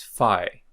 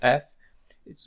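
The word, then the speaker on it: φ: the Latin alphabet and we are going to pronounce it exactly as F here uh the ancient Greek pronunciation of f was probably not exactly F but something like P P which is a p Follow by aspiration it's a kind of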